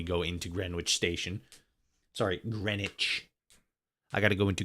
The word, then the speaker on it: Greenwich: Sorry, Greenwich. I got to go into Greenwich. Greenwich station. Greenwich. Even though it's PR, Even though it's spelled green witch.